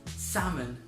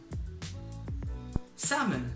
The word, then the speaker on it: salmon: the next word is salmon salmon so if you have a look at the spelling it's Salmon but it's not pronounced how its spelt the L is actually silent so it's salmon and